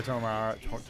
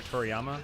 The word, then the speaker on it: Toriyama: I am looking forward to the Photoshop of Spike Spiegel with the Akira Tomiyara. Tomiyara? How do you say it? Akira Toriyama.